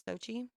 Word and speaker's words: Sochi: I'll check that out Sochi was the hostess is how you say it's Sochi uh yeah that's how I heard it said on TV yeah so Sochi got